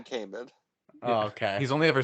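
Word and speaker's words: Kaman: I thought it was Common. Chris Common. It's definitely Cayman.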